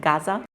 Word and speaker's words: Gaza: people uh Gaz or I pronounce it Gaza because that's how we pronounce it. It's in English you call it Gaza.